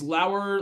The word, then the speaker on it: Lower: Uh it's Lowour.